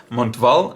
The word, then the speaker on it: Montval: series come on Val I guess you don't pronounce the T but who knows montval watercolor aquarelle so this